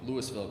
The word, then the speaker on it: Louisville: kind of a green belt space in in Lewisville Colorado and Louisville is the proper pronunciation of louville wanted wanted to hot that